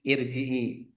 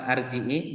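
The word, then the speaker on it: ارجعي: Kalau yang sering baca dia akan tahu itu bacanya i irjii. Hm. Bukan arji, bukan urji gitu.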